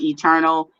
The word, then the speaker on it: Eturnul: you could see my name there at i'm eternal eternal is spelled e-t-u-r-n-u-l if you guys are wondering why